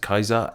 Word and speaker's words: Caesar: Cicero should be called Cicero, Caesar should be pronounced Kaiser, and so on.